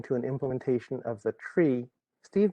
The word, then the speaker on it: trie: of the tree steve did i pronounce that correctly or is it try most folks around here pronounce it try um i was uh a student of the inventor of it and he pronounced it tree that one the trie